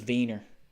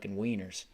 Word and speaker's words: Wiener: And when you speak German, you don't pronounce the W like that. You pronounce it like V. But Americans are like, well, it's W, so it's wieners.